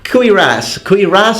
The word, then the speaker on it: cuirass: So, cuirass, it took me 4.5 years to learn how to pronounce that word in English.